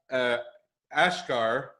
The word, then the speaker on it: Asghar: Asghar, and I know he told me it was like NASCAR, but with an A.